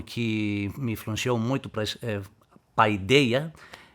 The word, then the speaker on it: paideia: E outra palavra, eu não sei como pronunciar, paideia. Paideia em português agora, paideia, né? Paideia. Mas no grego a pronúncia mais é pedia.